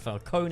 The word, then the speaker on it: Falcone: like the penguin and carmine falcone yep it's pronounced falcone in this movie so i will pronounce it